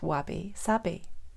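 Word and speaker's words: wabi-sabi: week is to tell us a story about wabby sabby and you may not have heard that phrase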